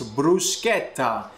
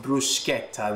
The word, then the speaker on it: bruschetta: toast some bread bruschetta the correct way to say it is bruschetta if you're saying bruschetta you're not saying it properly bruschetta comes from the